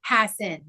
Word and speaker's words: Hassan: We have now landed on the correct pronunciation, Steven Hassan.